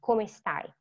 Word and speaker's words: come stai: Again, remember the sound is C-O, co, it's a hard sound, come stai.